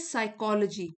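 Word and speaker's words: psychology: इट इज साइकोलॉजी P silent है।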